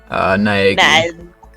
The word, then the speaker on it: Naegi: do you pronounce that last name? Naegi.